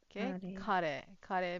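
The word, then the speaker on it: 彼: Kare means he Okay. Okay. You you don't you you don't say it in a long tone.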